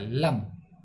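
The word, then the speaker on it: लं: लम, ला के ऊपर बिंदी लगी तो ये इसको लम उच्चारण करते हैं।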